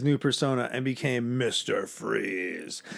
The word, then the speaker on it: Fries: persona and became Mr Freeze I always forget that Victor freeze is spelled like fries f-r-i-e-s not freeze like he calls himself freeze even though he's Victor freeze it every time I